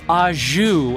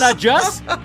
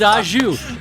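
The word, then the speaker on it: au jus: alive, and they're like, the word, David, is ajou, and you're like, oh, it's not ajus? It's not ajus? Nope, it's ajou.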